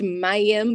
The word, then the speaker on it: Mayim: raw I started researching the name it's actually pronounced Mayim but I don't pronounce it like that because